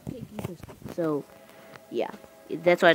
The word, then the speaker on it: King Christi: By the way, guys, I know it is called C King Christi, but you pronounce it King Christi.